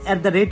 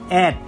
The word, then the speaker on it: @: তখন এখন তো বর্তমানে সবাই ইমেল ব্যবহার করে থাকেন, করব তখন এটাকে বলতে হবে অ্যাট, শুধু অ্যাট। এটার আসল উদাহরণ বা উচ্চারণ হলো অ্যাট।